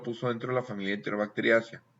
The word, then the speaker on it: Enterobacteriaceae: Primero, a veces leemos en español ACEAI, pero se va a pronunciar SEA. Por ejemplo, tú lees Enterobacteriaceae y se pronuncia Enterobacteriaceae.